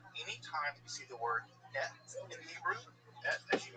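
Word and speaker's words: את: Bereshit bara Elohim es hashamayim ve'haaretz. So Bereshit bara. So in the beginning, he made, namely God, what? Es, et. Let me check my pronunciation to use correct academic Hebrew. Et.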